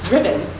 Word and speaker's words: Driffin: The spelling of the title, Driffin, pronounced Driven, is derived from the Middle English spelling of driven.